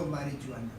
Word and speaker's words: marijuana: Marijuana, marijuana, no marijuana. It is marijuana.